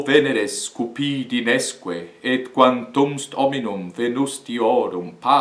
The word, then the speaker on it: quantum est: Por exemplo, aqui, quantum est, nós não dizemos quantum est, e sim quantumst.